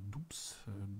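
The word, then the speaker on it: Doubs: So heißt es, oder Dubs. D-O-U-B-S. Ich glaube, er wird Du ausgesprochen.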